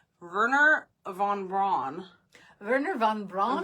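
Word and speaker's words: Wernher von Braun: found this one name verer Von Bron verer Von Bron V it's actually starts with a w but the way that they pronounce it yeah so ver Von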